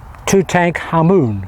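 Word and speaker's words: Tutankhamun: tomb of um uh two tank Hammoon, which is the real pronunciation in Cairo.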